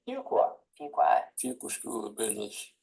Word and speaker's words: Fuqua: to quickly pronounce fua that's not one qua it's not two qua it's a few qua so my 10-year-old told me to remember how to pronounce the school's name fuka fuka fuka School of